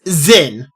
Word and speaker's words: Zin: His name is not Jin. There is a Z there. There is a Z there. It's Zin.